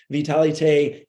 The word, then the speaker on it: Vitalité: The French pronunciation, Vitalité, is a product that contains 4 capsules, powdered capsules that are all the same.